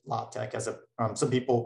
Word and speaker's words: LaTeX: using what is called lotex so this is pronounced lotec as a um some people pronounce it latex either way so there are two different types